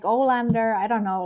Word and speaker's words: Alander: alter egos and that most people don't know how to pronounce my name, and it's just like Alander most of the time. Like after it was once spelled like Arlanda in Germany, like the airport in Stockholm, I was like, okay, this hurts. I'm not gonna even try to like pronounce it as it's actually pronounced.